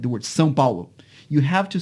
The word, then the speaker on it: São Paulo: They would just do the nasal diphthong, São Paulo. Right. Yeah. Well, it's a different vowel too, right? So if you have like the San Rafael swell, that's just in southern Utah. It's San, but it's spelled the same way as San Paulo. And for me, it's San Rafael swell and San Paulo. Even if I don't have the nasal vowel, it's still a different vowel because that's how